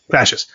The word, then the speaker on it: Clashes: Is that how you say it? Clashes? Clashes, yeah. Clashes.